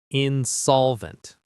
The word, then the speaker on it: insolvent: Insolvent. The stress is in the middle.